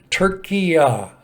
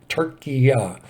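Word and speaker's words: Türkiye: Turkiya, I believe, is how you pronounce that. Turkiya instead of Turkey.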